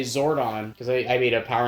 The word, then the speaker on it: Zordon: but I would say I say Zordon but in the AI would say zoron like it didn't pronounce it correctly or it didn't catch